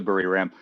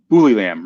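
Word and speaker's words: Buriram: you say it right i tried to say it right on my one video or i went to bury ram it's more like bully lam right um yeah you do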